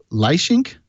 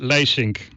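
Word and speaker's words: Leisink: bring on our guest today's guest is Hugo lye sink I hope I said that correctly you go how did i do on that last name it's pronounced by sink ah it sounds the same to me I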